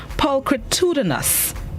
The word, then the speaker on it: pulchritudinous: the word of the day this morning is pulchritudinous pulchritudinous it is spelled p u l c h r i